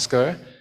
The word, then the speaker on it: SQ3R: The SQ3R, tapi the way you pronounce it is called SCR.